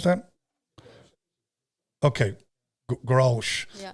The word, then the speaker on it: Grolsch: Do you know how to pronounce that? Okay, Grolsch.